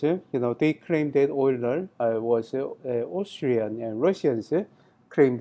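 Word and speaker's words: Euler: Uh many um I you know pronounce this name you know the oiler uler right especially like you know if if you are Americans okay but you know the oil oiler uh that's a that that's close to uh the correct pronunciation, right?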